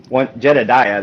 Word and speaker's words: Jedidiah: people aren't sure how to, like, if it's Jedidiah or Jedidiah, or I get all kinds of things, but Jedidiah, that's not hard to say once you know how to say it.